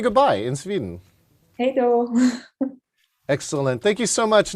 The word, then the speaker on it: Hej då: Hej då.